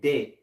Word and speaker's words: debt: de de de de got to say de de all right the be is silent go ahead it said Donald